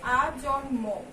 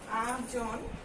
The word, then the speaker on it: আজন্ম: এবং দেখো আমরা বলেছিলাম যে দন্তন্য মূর্ধন্য ল ট এগুলোর সঙ্গে যদি এই ম যুক্ত থাকে তাহলে কিন্তু সেটির উচ্চারণটা অবিকৃত থাকে, মানে যা আছে সেটার উচ্চারণটা ঠিকঠাক হবে। তাই আজন্ম, আজন্ম, ঠিক আছে। তাই এই ময়ের উচ্চারণটা আমরা ঠিকঠাক ভাবে করছি, অবিকৃত ভাবে করছি।